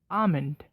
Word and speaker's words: almond: fourth word is very similar to salmon it's almond you've probably been pronouncing this right evenly pronounced the sound in